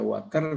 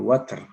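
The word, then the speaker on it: وتر: Wal water artinya ganjil ganjil itu bisa dibaca water bisa dibaca Witir ya tapi kita lebih sering bacanya Witir ya tapi Alquran menggunakan dengan fathah Wal water ya jadi ganjilnya jadi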